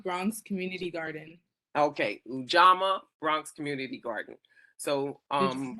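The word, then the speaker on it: Ujamaa: me you know I sometimes I think I pronounce the name Garden one so help me Jaylene it's ujama Bronx Community Garden okay ujama Bronx Community Garden so um is a Swahili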